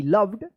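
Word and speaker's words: loved: the wooden table Mohan लव्ड देखिए एल ओ वी ई डी क्या यहां पे लास्ट में इ आया है और इस ओ का अ उच्चारण हो रहा है जैसे कम सम डम डन इसको आप बताए थे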